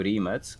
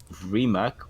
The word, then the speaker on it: Rimac: excites me very much which is the new Rimac, or as it's incorrectly pronounced, Rimac or Rimac.